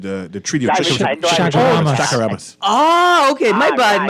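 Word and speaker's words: Chaguaramas: No, he's talking he mispronunciated the treaty of Shagaramas.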